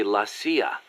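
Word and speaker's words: la CIA: around here they say la sia instead of c.i.a huh um nothing strange about it that's how it's pronounced when you read it in spanish it has the feminine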